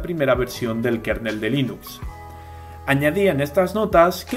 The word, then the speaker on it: Linux: is Linux thals And I pronounce Linux as Linux la licencia bajo la